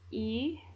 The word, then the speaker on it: y: we have left is E and A now let's start with E so e which is how you pronounce this little y here is used to